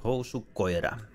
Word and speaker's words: Housu Koira: But you say it Housu Koira.